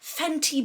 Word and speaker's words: Fenty: gonna be using the fenny beauty fanny beauty oh my god with my accent tees are hard to pronounce i have to like actively try to pronounce the t so i'm using the fenty beauty um bright fix